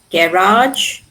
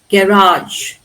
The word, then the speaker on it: garage: In British English the ar is normally stressed on the first syllable while American English stresses them on the last syllable.